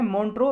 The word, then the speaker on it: Montreux: इसी के अंदर एक होता है मॉन्ट्रो रिकॉर्ड। ये मॉन्ट्रो रिकॉर्ड क्या है, मॉन्ट्रो रिकॉर्ड देखो एक्स साइलेंट है इसमें, मॉन्ट्रो रिकॉर्ड क्या है,